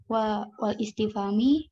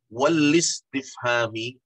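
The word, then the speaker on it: الاستفهام: Secara istilah ialah malayah tabilu sidqon, wala kadiban, kal amr, wan nahi, wal istifami, wa tamanni, wan nidai.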